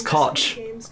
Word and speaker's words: Koch: the first one is to introduce you to koch media's brand new oh i've been saying that very wrong number two is to take a deep breath yeah it's koch i thought it wasn't the other pronunciation i